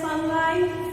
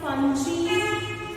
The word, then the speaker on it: fungi: You can call it as fungi, fungi, pronunciation differs, students.